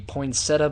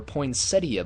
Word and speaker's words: poinsettia: This one is the poinsetta bowl or poinsettia bowl. Both both pronunciations are correct and I can guarantee you that they will tell you that on the poinsetta bowl broadcast.